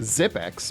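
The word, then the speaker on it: Xyp9x: Musk's next kid well it turns out it's pronounced zip X but as someone who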